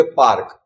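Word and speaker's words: park: ये बीच में आता है, इसको बोलेंगे पार्क, इसको बोलेंगे मार्च। ये लास्ट में आता है, इसको बोलेंगे जार। पर ए का उच्चारण जो है वो आ से होगा।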